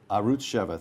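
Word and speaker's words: Arutz Sheva: will now mispronounce this arut how is it pronounced arut cheva arut cheva thank you this past spring quote quoting you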